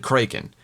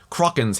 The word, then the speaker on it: Kraken: Um and Pintel's like I've always heard it said Kraken. And Regetti's like what with a long a. And then Pintel's like ah. And then Regetti's like no no no no no. Kraken's how it's pronounced in the original Scandinavian and Kroken's closer to that.